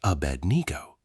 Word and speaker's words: Abednego: Aed ngo, pronounced Abednego, almost certainly means servant of Nego, referring to Nebo, pronounced Nebo, another Babylonian deity.